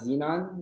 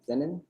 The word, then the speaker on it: Zenon: uh i'm just gonna be going over the xenon mystery not xenon is uh xenon zenon right then right yeah that's how you pronounce it yeah it's not xenon then the